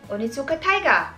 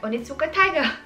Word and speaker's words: Onitsuka Tiger: Fun fact, minisearch ko kasi kung anong pronunciation talaga niya. Ano pala siya? Onitsuka Taiga. Parang ganun. Onitsuka Taiga.